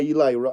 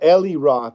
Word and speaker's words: Eli Roth: told me that's by Eli Eli Roth or Ellie Roth I used to call him Ellie Roth when I was a kid and I didn't know how to pronounce his name flesh M says CR